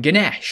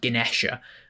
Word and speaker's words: Ganesha: And Ganesh, or well, actually, I think it's pronounced Ganesha, god of science, the elephant god, cool god.